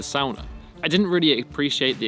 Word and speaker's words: sauna: And that is with hot, or in this case, the sauna, or as it should be pronounced, the sauna.